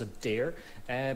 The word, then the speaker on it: Adhair: So, well, I will start off with, hi, my name's Adhair. Pronounced in my native tongue, it sounds more like I'm just breathing heavily.